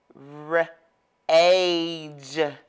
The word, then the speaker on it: rage: a new word okay now the a is going to say its name r age rage that e is